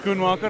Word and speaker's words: Schoenmaker: Schoenmaker, am I pronouncing that right? Schoenmaker, Tatjana Schoenmaker.